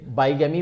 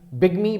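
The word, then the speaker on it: bigamy: लोग ऐसे बाईगैमी बोलते हैं, लेकिन ध्यान रखिए बिगमी इज the right pronunciation, as we will discover letter.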